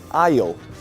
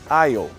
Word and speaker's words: aisle: Mas a pronúncia é diferente, a pronúncia é aisle. Aisle. Mais uma vez, aisle.